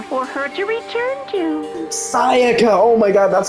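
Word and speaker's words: Sayaka: Saiaka.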